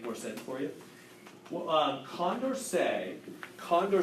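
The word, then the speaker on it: Condorcet: and it violates the Condor say criterion it's French word so I pronounced that way so Conda what's the conversation if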